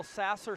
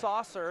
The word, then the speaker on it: Saucer: to Levi for this whole Sasser saucer debacle it is saucer yeah I felt like